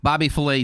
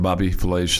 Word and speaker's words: Bobby Flay: Bobby Filet, 60. And Matt Forte is 39. You ever watch any of Bobby Flay's, what'd you say his name was? Bobby? Flay. Bobby Flay. I was going to say Bobby Filet, but Bobby Flay.